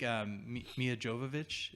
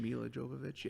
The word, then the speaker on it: Milla Jovovich: it's the fourth kind from 2009 I think Mia Jovovich is how you say her name Milla Jovovich she's like the only person actress I recognized